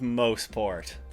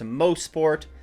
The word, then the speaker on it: Mosport: On to the track now in good old Mosport. And yes, indeed, it is pronounced Mosport, not Mosport, and yes, many people still do